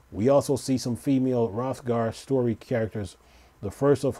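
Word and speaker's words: Hrothgar: dant is a female rothgar first introduced as a male only option in a shadowbringer expansion the long waited female rothgard the H is silent by the way it says will uh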